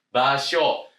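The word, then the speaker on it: 場所: Kanjengnya adalah toko ya tempat ya baso. Nah di sini teman-teman basionya ada u atau enggak? Ayo diingat-ingat bahasanya ggak ada U, Teman-teman ya.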